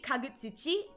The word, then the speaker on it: Kagutsuchi: So, it should be Kagutsuchi.